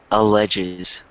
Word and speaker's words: alleges: And then this word, alleges.